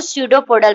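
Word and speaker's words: pseudopodial: इसको P silent होता है तो स्यूडोपोडल पढ़ते हैं।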